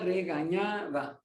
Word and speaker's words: regañaba: The N has a tilde, so the pronunciation is ni. A la garza regañaba.